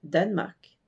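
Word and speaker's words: Danmark: mais en danois merci Danemark c'est très simple à prononcer il y a juste le E du milieu qui disparaît et on a Danemark d a n M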